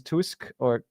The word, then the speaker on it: Tusk: Poland next, I think we have a good chance because Tusk, I never know how to pronounce him. Do you know? Say Tusk, yeah.